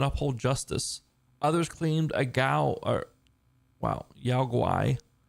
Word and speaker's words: Yaoguai: Others claimed a Yaoguai. So Guai is how you pronounce that.